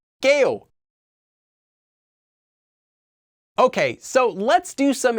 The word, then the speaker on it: 게요: and also note that due to sound change rules this KO form is actually pronounced as GA okay so let's do